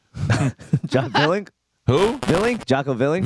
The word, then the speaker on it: Willink: Willink. Jocko Willink. Villink. Yeah, It's Willinick. I believe it's He's pronounced.